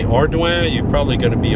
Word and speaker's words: Ardoin: And it might look like Ardoin, and but it's pronounced Ardoin. Now there's not too many variations that I know of, but pretty much if you say Ardoin, you're probably going to be okay.